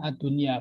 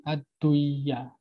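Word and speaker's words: الدنيا: Nah, ketika dia dan nun sukun bertemu ya, dia dibacanya ad-dunya, bukan ad-duya. Jadi bukan kayak idgham bihuna yang melebur dan berdengung. Jadi ad-dunya.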